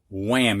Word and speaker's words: wham: couple of these words three of them actually have a silent h when whack wham you don't hear the h it is silent and the next thing